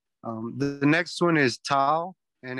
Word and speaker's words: tau: the next one is tau and it's um it's a t sound a short t yeah it's an unaspirated t so just as in